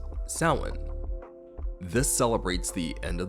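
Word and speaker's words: Samhain: It is spelled s a m h a i n and is pronounced sin.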